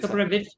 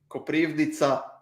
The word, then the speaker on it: Koprivnica: Koprivic? Huh? Koprivnica.